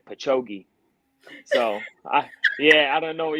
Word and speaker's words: Patchogue: So, Alenia and I were trying to figure out how you pronounce the part of New York that you're from. Okay. Patchogue. Would you? Yeah. Patchogue.